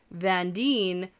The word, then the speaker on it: Van Dien: and van dien straight vandine rhymes with green okay she's the green